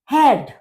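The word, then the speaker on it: Herd: हेड। हेड, क्योंकि ई का pronunciation ए होता है, तो हेड यानी कि स्टोव, चूल्हा, खाना आदि बनाने का जो चूल्हा होता है उसे कहते हैं हेड।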